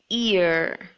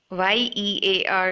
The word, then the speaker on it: ear: I've seen a lot of them say year with a Y. Y-E-A-R is not the way this should be pronounced, but it should be pronounced as ear. E. Make sure it's E, not ye. Year, it's not year, it's ear.